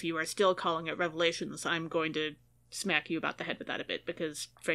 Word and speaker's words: Revelation: Our second reading for the second Sunday of Easter is from the book of Revelation. No S, not plural.